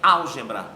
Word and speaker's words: álgebra: unicidade da pronunciação é álgebra olha antepenúltima portanto é uma proparoxítona outra favorável e eu